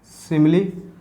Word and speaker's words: simile: हम लोग करें आर्टिकल्स डिस्कस, और आर्टिकल्स में आज मैं आपके साथ डिस्कस करूँगा सिमिली और मेटाफर का यूज़। ठीक है, देख लो स्पेलिंग देख लो, SIMILE, इसको बोलते हैं सिमिली।